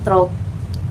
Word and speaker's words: through: Jangan trok gitu ya, trok gitu ya. Itu cara bacanya itu through ya. Kayak apa kalau bahasa Arab ya? Kayak tak gitu ya, kayak tak tapi pakai R ya. Jadi through, gitu ya.